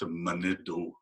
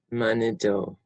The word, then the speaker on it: Manido: Sometimes people will see it spelled Manitou, and back east that's how they'll pronounce it sometimes, but it's pronounced Manido. Manido.